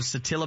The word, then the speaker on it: Satilla: And I would like to point out a member of Satilla Baptist. Is it pronounced Satilla? Yes, sir.